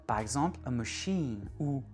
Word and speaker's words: machine: Mais quand on emprunte un mot français en anglais, on va vraiment accentuer sur la dernière syllabe. Par exemple, machine ou cuisine, élite.